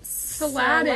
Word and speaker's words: Saladin: Saladin. Like, S-Aladdin. Saladin.